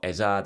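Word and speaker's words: Eze: their own names and he pronounced it eza, so that's what you should be calling it.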